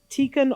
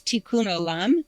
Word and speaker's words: Tikkun: What is tikken olum? And have I said it wrong? Um it's pretty close. Tikkun, okay.